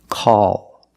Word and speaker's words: call: word after a vowel after a vowel we use a dark l call after a vowel at